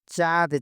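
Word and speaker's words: cat: চিওম মানে চুমা দেওয়া চাঁদ চাঁদ মানে রং সি কে মালয়েশিয়া কি চেয়ে উচ্চারণ করো চাঁদ সি এ টি চাঁদ কি চাঁদ মানে কি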